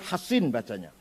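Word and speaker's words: حصين: Bisod ya, Hasin. Kalau Sin Husain bacanya. Kalau Sod Hasin bacanya. Al-Hasin Al-Khazraji punya anak tidak mau masuk Islam.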